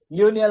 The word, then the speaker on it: Lionel: Lionel has just 2 syllables. Okay. Leo, then Nell. Leo, then Nell. Leo, then we have Nell.